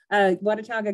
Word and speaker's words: Watauga: at the Children's Council of, I want to pronounce it correctly, Watauga. Okay, thank you. Thank you for correcting me on that. Watauga County.